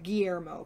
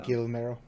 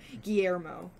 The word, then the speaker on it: Guillermo: It's Guillermo, by the way. Not I don't know how you were saying it, though. Guillermo? Yeah, that's not how you say his name. Guillermo. Guillermo.